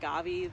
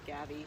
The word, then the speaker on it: Gavi: We support Gavi, the Vaccine Alliance. Actually, it said Gavi. I keep saying it wrong.